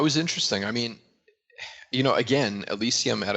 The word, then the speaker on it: Elysium: I can never pronounce it a lot. Elysium.